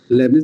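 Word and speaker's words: Leibniz: লবনিজে আসি ম উদ্দেশ্য আসলেই ইম্পর্টেন্ট জানা উচিত লবনিস দুভাবে লেখা অনেকে লেখে টি লেখে এলই আইবি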